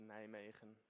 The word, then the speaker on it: Nijmegen: Yeah, it's pronounced Nijmegen, but Nijmegen, that's all right.